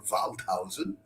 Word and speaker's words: Waldhausen: It's Evan Few on the violin, Elena Kaufman on the viola da gamba, and John Waldhausen, or Waldhausen in the German pronunciation, on the harpsichord.